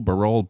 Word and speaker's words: Barol: the curve I think I was doing barrel for a while but Baro is correct it is technically correct yes well great before